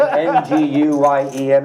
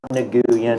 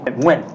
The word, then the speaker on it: Nguyen: So like the last name Nguyen, it's not Nguyen. It's Nguyen. Win.